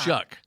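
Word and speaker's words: Shough: Slow, slaw, Shuck. shock, Close. Shock. Shuck. shuck. Shuck. Where there's no K.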